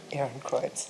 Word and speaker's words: Ehrenkreuz: Her honors include the Guggenheim Fellowship, the University of Ghent Sarton Chair, the, correct me if I pronounce this correctly, the Ehrenkreuz from the government of Austria? Ehrenkreuz.